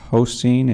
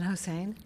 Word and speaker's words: Hossein: Seeing no questions, next up, Hoseen, and you may need to correct my pronunciation. Hi, it's Hossein, but that was pretty close.